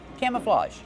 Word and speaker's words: camouflage: have camouflage pants Kevin how do we pronounce camouflage camouflage use the open ass sound like ham and maam cam plus a